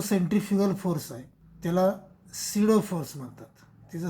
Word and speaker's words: pseudo: चौथा पॉईंट, हा जो सेंट्रिफ्युगल फोर्स आहे त्याला सिडो फोर्स म्हणतात. त्याचं स्पेलिंग आहे PSEUDO. Centrifugal force is ए सिडो force. PSEUDO असं स्पेलिंग आहे परंतु उच्चार मात्र सिडो असा करायचा. तर centrifugal force is दी सिडो force असं चौथा पॉईंट आहे.